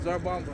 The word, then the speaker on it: Tsar Bomba: The T is silent. Tsar Bomba.